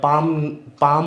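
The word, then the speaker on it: palm: काल्म नहीं होता है, काम होता है, या पाम होता है, पाल्म नहीं होता है।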